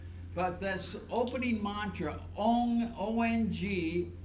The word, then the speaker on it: Ong: mantra owned Ong o when you pronounce it correctly oh right your tongue comes up against your upper palate the roof of your mouth and it vibrates this whole frontal lobe of your brain mantras are designed to